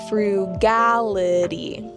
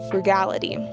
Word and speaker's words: frugality: Notice the emphasis is on the second syllable. Frugality. Frugality.